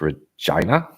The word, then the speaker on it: Regina: Regina is pronounced Regina.